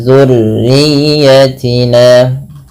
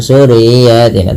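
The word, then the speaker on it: ذريتنا: Jangan dibaca zu ya tapi dia huruf zal di sini. Kemudian tekan pada lafal huruf ya jangan hanya sekedar zur riyatina gitu ya tapi jangan sur riyatina tapi tekan ya nya.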